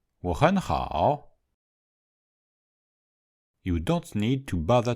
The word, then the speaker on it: 我很好: If we speak quickly, the first syllable will be on the rising tone, the middle syllable on the high tone, and the last syllable on the low tone. 我很好.